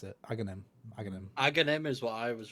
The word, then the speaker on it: Aghanim: Before Aghanim, how do you guys pronounce it? Aghanim.